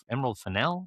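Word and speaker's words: Fennell: And then Weathering Heights by Emerald uh is it Emerald Finel?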